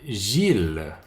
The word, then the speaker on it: Gilles: les noms propres comme Gilles donc encore ill et comme déjà expliqué encore la plupart de temps ill se prononce I mais dans certains noms propres ça devient il comme encore Gilles c'est un prénom masculin